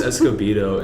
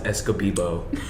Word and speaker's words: Escobedo: name it's like escobedo and then like every other teacher i know mispronounces my last name my favorite one is escobibo who's it called in